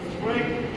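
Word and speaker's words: cruet: At the end, since more people use salt than pepper, the salt should আজকে বললাম যে ক্রোয়েট সেট, ক্রোয়েট উচ্চারণ হচ্ছে ক্রোয়েট, স্পেলিংটা দেখ ক্রোয়েট, স্পেলিংটা দেখ ক্রোয়েট সেট মানে কি?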